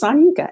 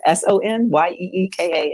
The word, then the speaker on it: Sanyika: But Sanyika, the spelling of it it doesn't match a European vernacular, so it's difficult to pronounce if you don't know. So yeah, it's Sanyika. Sonyeeka is how you phonetically spell it. But Sanyika is my name.